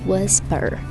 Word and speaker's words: whisper: англійською мовою слово to Whisper Whisper Whisper Whisper Як думаєте яка літера у цьому слові не вимовляється не стає звуком це літера H whisperisper і якщо люди